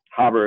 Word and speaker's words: Haber: continue um it's harbor harbor is how they would pronounce it he's a german dude yeah i remember reading